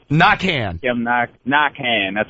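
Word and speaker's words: Naquin: Yeah, it's pronounced Knockan. I know it's a little throw down here, but it's pronounced Knockan. Knockan.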